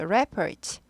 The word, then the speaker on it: report: 그래서 한 단어 가지고 명사, 동사 둘 다 쓰일 때에는 보통 앞에 명사는 중요하니까 앞에다 액센트를 줘요. 그래서 report. 동사는 뒤에다 줘서 report예요.